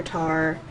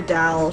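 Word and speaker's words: 달: So yes, if anyone's wondering why I'm calling her Tar, it's because in Korean, that's how you pronounce it. You can call her Dal, she doesn't mind, but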